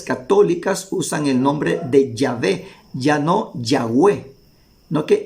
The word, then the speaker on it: Yahvé: sido yahvé y no Jehová entonces ahí vemos Nosotros que los hebraísmo actuales los modernos ellos llegaron al acuerdo que la forma correcta para pronunciar el nombre de Dios era yahvé y no Jehová aún ellos llegaron a